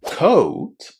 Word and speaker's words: coat: But pay attention because court and coat are 2 completely different words. Court is pronounced with a long O. O. Court. Coat is pronounced with the O sound, just as in the word go.